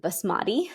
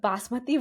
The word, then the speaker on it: basmati: you cook bosoy rice people in the west pronounce it Basmati but basmaty rice and um Val which